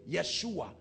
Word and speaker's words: Yeshua: where they get Yeshua because they pronounce why for J Yeshua that's why you see